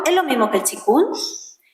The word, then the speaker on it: qigong: Y pero se pronuncia chikun.